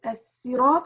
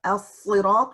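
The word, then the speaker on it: الصراط: The oral, the pronunciation is three forms: as-sirat with a sin, or as-sirat with a sad, or az-zirat with this combination letter.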